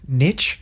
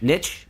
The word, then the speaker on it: niche: I think that now a legitimate way to pronounce that word niche niche yeah yes it is niche and they're both correct sorry continue you're both